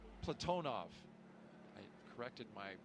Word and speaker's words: Platonov: Our crew today, commander Zena Cardman, pilot Michael Frink, Jackson astronaut Kimmy Aayoui, and Ross Cosmos cosminaut Alleg Platinoff Platonov. I corrected my pronunciation yesterday and I slipped back into crew walk out has commenced on schedule.